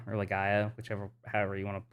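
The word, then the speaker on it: Legaia: old PlayStation one game called um Legend of Lea or Legaya, whichever, however you want to pronounce it.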